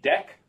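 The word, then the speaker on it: deque: to being called a deck pronounced like uh like deck and a double ended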